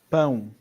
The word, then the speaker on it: pão: all that happens there is one goes louder and one goes quieter. It is a bit like that. Yeah. But you've also got a different type of A here.